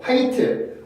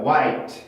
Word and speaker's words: white: 스펠링이랑 발음 기호는 다른 거니까 웨이트가 아니라 어떻게 읽어야 돼요? I 발음이 들어간 white입니다. white.